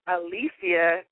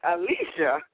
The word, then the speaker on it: Alicia: working she a lot of fun let's welcome Alisia to hey are you there yes I'm here now am I pronouncing your name right because you you gave